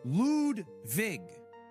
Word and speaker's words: Ludwig: But it's pronounced Ludwig.